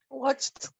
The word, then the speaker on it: watched: Watched. Excellent, very nice, with the T sound. Watched with the T sound at the end.